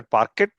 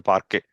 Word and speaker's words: parquet: It's not parquet, it's a parquet. T is silent here.